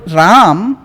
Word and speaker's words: राम: तो राम एक्चुअली संस्कृत में प्रोनाउंसिएशन राम, क्योंकि म का पूरा प्रोनाउंसिएशन, पूरा उच्चारण करना है।